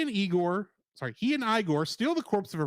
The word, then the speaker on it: Igor: pronounces his name Frankenstein Igor insists that his name is pronounced igore rather than the traditional Igor arriving at the estate